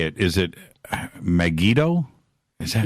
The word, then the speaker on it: Megiddo: Is it Megiddo? Is that Megiddo?